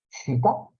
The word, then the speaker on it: chitta: Y bodhicitta, citta es un concepto también sánscrito, se escribe C-H-I-T-T-A, citta, quiere decir mente.